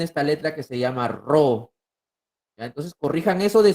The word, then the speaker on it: Rho: Chicos, la densidad, por si acaso, se escribe con esta letra que se llama Rho, ¿ah? Esta letra se llama Rho.